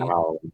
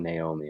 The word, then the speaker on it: Naomi: Okay, so I like the name Naomi, but that's actually not how it's pronounced Oh, at all. okay. Isn't Yeah, it's it supposed to be Naomi? Naomi.